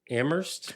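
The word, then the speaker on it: Amherst: never knew that yeah the town you say the H the college you don't say the H I never knew that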